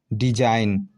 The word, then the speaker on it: design: देखिए example, DESIGN, डिजाइन। क्या है? यहाँ एन साइलेंट है।